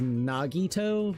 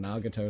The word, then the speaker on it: Nagito: I everybody like his actual name is Nagito, but I like calling him Nagato to be quite honest.